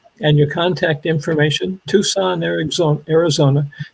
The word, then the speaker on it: Tucson: and your contact information tucson eric's on arizona the only way that i can remember how to spell it is to pronounce it tuxen yeah me too but it's not and notice we have